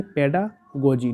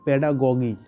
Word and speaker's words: pedagogy: इसको पढ़ेंगे पेडागोजी, नॉट पेडागोगी। Okay, पेडागोजी that means science of education. It's a Greek word. Okay, पेडागोजी जो word है ये एक ग्रीक वर्ड्स है। Okay, we remember पेडागोजी इज a Greek words